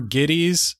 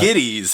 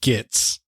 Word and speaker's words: Gittes: Jake Gittes or Giddies, pronounced either way in both movies, so I'm not sure. Well, it's Giddies, and the thing is, when Houston in the first one keeps purposely mispronouncing his name.